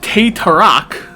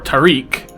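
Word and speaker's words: teh tarik: This means, when, for example, somebody ordered Te Tarak, or Tariq, I can't pronounce it, it's Tehtarik, it's pulled tea and milk.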